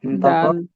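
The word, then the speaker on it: دال: ঠিক আছে তো আমরা দাল শিখলাম তাহলে এই তাহলে দাল উচ্চারণ কি করা যে জিহ্বার আগা সামনের উপরের দুইটা আগার সঙ্গে লাগিয়ে দাল উচ্চারিত হয় তারপর হল যে রা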